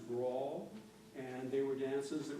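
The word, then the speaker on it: branle: The two of the movements here are, it looks like they'd be pronounced Bransley. That's actually pronounced brawl.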